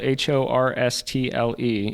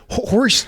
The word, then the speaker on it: Horstle: Horse? Is there a T in there, or is it horse? It's just Horstle, but there is a T in there in the spelling.